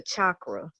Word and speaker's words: chakra: What's your chakra?